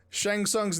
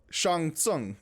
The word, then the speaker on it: Shang Tsung: one's gonna learn it it's just like how immortal combat shang tsung's name is actually shangsung like oh they don't even say that in the video but we all just say it wrong because we're americans like